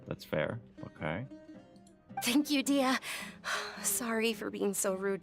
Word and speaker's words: Dehya: This should be old news Dehya. to you. That's how you say her name, Dehya.